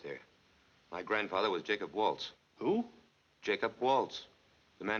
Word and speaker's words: Walz: My grandfather was Jacob Waltz.